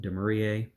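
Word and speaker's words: Dumouriez: So there are certainly some main armies, like I believe that's pronounced Demurier.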